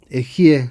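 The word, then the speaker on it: אהיה: Las 41 letras de este nombre, Aleph, Hei, Yud, Hei, Ejie se pronuncia, es el nombre más elevado del Dios, es como Dios se llama a sí mismo.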